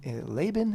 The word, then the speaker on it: Lavan: How do you say his name? Laban? Is that how you say it in English? In Hebrew, it's Lavan.